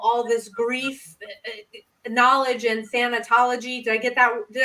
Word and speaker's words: thanatology: in with all all this grief knowledge and thanatology did I get that did I did I pronounce it right yes oh awesome and meh